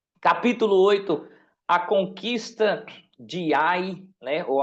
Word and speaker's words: Ai: Capítulo oito, a conquista de Ai, né? ou alguns falam aí, mas eh pelo menos a pronúncia que eu conheço é a capítulo 9 eh